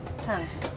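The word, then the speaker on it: 糖: Tang.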